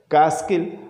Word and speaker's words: Catskill: T will remain silent in the pronunciation. We'll pronounce it Catskill Mountains.